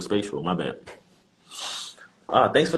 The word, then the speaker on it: Spatial: Uh, it's spatial. Spatial. Spatial. Spatial.